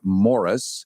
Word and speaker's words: Maurice: can Google him and it's spelled like Maurice but pronounced like Morris so you don't run a foul of insulting him by mistake and I get an A+ Morris don't you think you